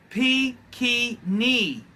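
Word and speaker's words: Pequignet: We've got it's pronounced Pekini, by the way.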